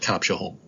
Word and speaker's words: Copshaholm: Today, I'm going to present The S is Silent, a look at the Concours d'Elegance at Copshaholm.